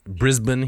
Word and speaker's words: Brisbane: we pronounce things yeah it's brisban he said Brisbane he he gently corrects ask uh yeah our